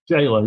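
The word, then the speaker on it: gaoler: Jailer. Yeah. to softly it's jailer. So it is pronounced the same way.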